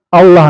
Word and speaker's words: Allah: Dia kalau dibaca lam tuh ya Allah nih harus dibaca tafkhim tebal kalau berhadapan dengan jabar dan domah ya.